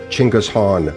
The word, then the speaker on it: Chinggis Khan: prodigious conqueror would attain the honorific title Chinggis Khan, nowadays pronounced in the West either as Genghis or Genghis Khan.